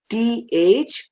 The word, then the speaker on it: though: T-H-O-U-G-H. This is not tough. T-H-O-U-G-H is though. It rhymes with the word go. So O-U-G-H sounds like O.